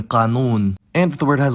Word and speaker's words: قانون: If the word has only long vowels, then the last syllable is preferred, like in qanoon.